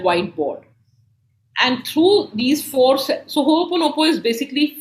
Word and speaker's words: Ho'oponopono: Is that the right pronunciation? Yeah, it's Ho'oponopono. Okay. Ho'oponopono.